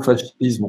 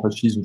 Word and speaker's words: fascisme: On peut là aussi gloser, si tu me permets, c'est-à-dire d'abord le mot fascisme, on le prononce souvent fascisme, je crois qu'on devrait le prononcer fascisme, mais en tout cas, fascisme.